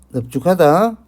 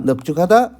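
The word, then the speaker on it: 넓죽하다: 리얼 비읍은 원칙적으로요, 대표음이 리얼입니다. 단 밥다, 넙죽하다, 넙둥글다, 이 예시만, 이 세 개의 예시만 밥다, 넙죽하다, 넙둥굴다만 비읍으로 발음한다는 것 절대 잊어버리지 마시고요.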